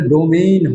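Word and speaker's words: domain: আসলে ডোমেইন হবে, বানানটা এমন, ডো এম এ আই এন, ডোমেইন।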